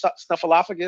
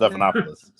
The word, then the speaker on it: Stephanopoulos: What's my man, George Snuffleupagus? Is that how you say it? Stephanopoulos.